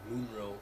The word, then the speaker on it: Monroe: I don't think she ever gets called Aurora Monroe, or Moonroe, that's how you say it.